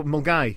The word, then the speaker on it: Milngavie: Yes, so Mulgai is how it's pronounced. Mulgai.